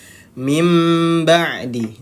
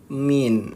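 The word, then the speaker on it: مِنْ بَعْدِ: diganti diganti Seperti apa diganti menjadi huruf mim mengganti menjadi huruf mim jadinya seperti apa membacanya mim ba'di nah mim mim nah menjad mim bukan Min Nah jadi cara membacanya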